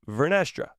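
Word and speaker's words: Vernestra: phrase it like this vestra do you know it's vestra and not vestra I'll learn that one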